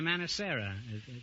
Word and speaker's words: Manicera: Manicera. Yes. That's an odd name. Is that the correct pronunciation? Yes, it is. Mm-hmm. Is that, what is it, Spanish? Italian. Italian.